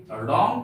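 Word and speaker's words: wrong: लोग औरंग नहीं पढ़ेंगे रंग पढ़ेंगे य डब्लू साइलेंट है क्योंकि यह किसी शब्द के पहले आया है रंग का अर्थ होता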